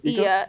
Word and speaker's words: Oia: Then we wanted to go to Ia, which is, it's spelled OIA, but it's this town like to the side from Santorini.